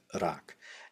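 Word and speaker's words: 락: this is just rak in in syinoorean it's pronounced rak now it's often often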